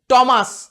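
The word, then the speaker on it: Thames: আবার নাম বলতে গিয়ে ট সাউন্ডও নিয়ে আসে টিএইচ, টমাস, ইংল্যান্ডের এক বিখ্যাত নদী টেমস।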